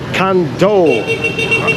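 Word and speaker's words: Cần Thơ: Good morning guys from Kando. I think it's pronounced like that.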